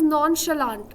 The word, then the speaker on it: nonchalant: It's pronounced as nonchalant. It's not chalant, okay? It's not ch. It produces the sound of sh, so it's going to be nonchalant.